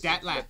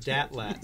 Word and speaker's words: DTLT: That's Datlat. Yeah, one student pronounced it Datlat, so you can. But DTLT is fine too.